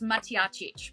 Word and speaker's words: Matjacic: the round in ning welcome to Showtime ly mackic and Mark Monroe firstly did I get that pronunciation right you are pretty close Andrew pretty close it's maic but it was pretty close better than many